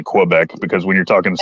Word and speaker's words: Quebec: well yeah you say Quebec you say it like it's a k sound kind of but it's not I say Quebec because when you're talking